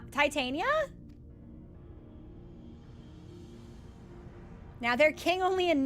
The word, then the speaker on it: Titania: some Shakespearean discussion as to whether it's actually pronounced Tatana. I think that's ridiculous. So, we're going to say uh Titania. And that's still amic. I just like the hard eye. Titania King.